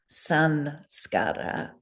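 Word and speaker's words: saṃskāra: There's no letter M in the Devanagari. The M, as Ming, I believe, just captured, is all in the dot over the letter. And we pronounce it sanskara, and we transliterate it with an N and not an M.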